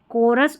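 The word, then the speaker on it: chorus: Chemist, chemistry, कोरस और character. यही spellings जो है जहां पर हम सीएच को क पढ़ते हैं।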